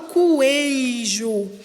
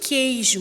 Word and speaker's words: queijo: Quando eu vou pronunciar a palavra queijo, eu não falo coejo, eu falo queijo.